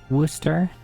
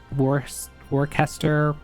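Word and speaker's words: Worcester: Um, what is the the city in Massachusetts of uh uh Worster? uh which often gets mispronounced like war warester or however people mispronounce it.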